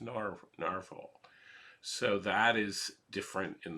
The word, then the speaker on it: Nahvalur: um narwhal which looks like it should be pronounced navalur but actually I'm told it's pronounced narvel so that is different in the fifth version